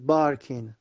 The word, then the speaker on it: barking: My neighbor's dog is barking. سگ همسایه‌ام داره پارس میکنه. My neighbor's dog is barking. حالا اینجا تو انگلیس ر رو تلفظ نمیکنن, میگن is barking.